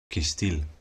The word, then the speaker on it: cêstêl: When a lexeme is a noun, an adjective, or an adverb, the stress or emphasis falls on the very last non-schwa vowel, kistil.